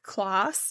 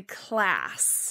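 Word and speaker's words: Klaas: said that is so i said mark kloss and polly class and it's actually class okay so i just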